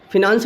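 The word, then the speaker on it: finance: President, राष्ट्रपति, या speaker of Lok Sabha का स्पीकर, चेयरमैन ऑफ राज्यसभा, या फिनांस मिनिस्टर, जिसे आप लोग फाइनेंस मिनिस्टर भी कई लोग पढ़ते हैं, प्रोनाउंसिएशन उसका गलत करते हैं, फिनांस मिनिस्टर होता है वो।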